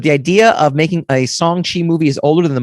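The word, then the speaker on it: Shang-Chi: own films it included song chi uh in the article that's how they tell you to pronounce it actually which is great because i kept pronouncing it chiang chi so i don't i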